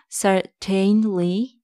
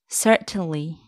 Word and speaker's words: certainly: It's not certainly, it's certainly.